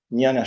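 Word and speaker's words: jñāna: Eh, es una JN, por ahí se pronuncia como una ñe ñana yoga, eh, o yoga como práctica espiritual.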